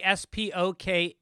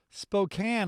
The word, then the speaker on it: Spokane: in a spanish-speaking country how do you say s-p-o-k-a-n-e washington right i think i just saw that did someone write in with that pronunciation i i was there and i said